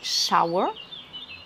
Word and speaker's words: shower: et donc attention là, c'est la prononciation avec un OW qui induit un son long et non pas un son court. Donc c'est shower, comme dans power, la puissance. Je vous renvoie à cette même vidéo sur les erreurs classiques de prononciation à la française, où on a tendance à dire power. Alors la salle de bain,